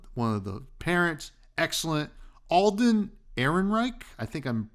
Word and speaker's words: Alden Ehrenreich: Alden Ehrenreich, I think I'm pronouncing that right.